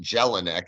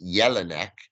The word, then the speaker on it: Jelinek: they don't pronounce it jelinek they pronounce it yellow neck and um if I'm in a Spanish-speaking country the Double L is a different sound than it is in English so I have to